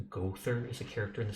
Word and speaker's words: Gowther: The name Gowther, ironically pronounced Gother, is a character in the Seven Deadly Sins, an aloof pretty boy known as the Goat Sin of Lust.